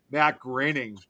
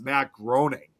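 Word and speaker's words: Groening: I was It's kind of like similar with uh Matt Graining, you know, of the Simpsons. And a lot of people always thought his last name was supposed to be pronounced Matt Grooning.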